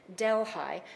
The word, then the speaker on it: Delhi: will start in Hamilton Delhigh spelled like Delhi in India but you say Delhigh it's a very rural